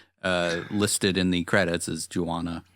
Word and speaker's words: Juana: in the credits as Juana. It's like marijuana, except without the Mary.